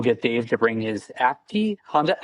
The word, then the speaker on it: Acti: And uh we'll get Dave to bring his Acti Honda Acti.